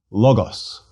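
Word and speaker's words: λόγος: 3 syllables. Oi-o-nos. Again. Oionos. And finally, logos.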